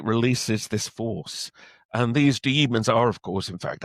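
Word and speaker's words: Daemons: It's about uh a race of actually they pron it's spelled d ae did they looks like demons it's pronounced demons according to the book but of course it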